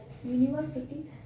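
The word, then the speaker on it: university: यूनिवर्स कह रहे हो, यू मतलब यह आ रहा है आपका, तो यहाँ पहले हिंदी लिख लो, यूनिवर्सिटी। स्पेलिंग गलत लिख रही हूँ क्या, यहाँ पे देखो ये क्या आया, ये आया ना, ये आया कि नहीं, ये अब प्रोनाउंसिएशन क्या रहा था, कॉन्सोनेंट का हो रहा है।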